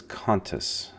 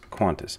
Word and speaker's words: Qantas: right here qf a so it says contests but in reality it's Qantas I know it's not